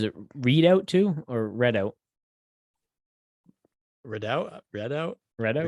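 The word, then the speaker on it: Redout: a unless you just typed it up wrong read out no no that's that's how it's spelled better okay write out two read out two red out red out two comes out june 16th the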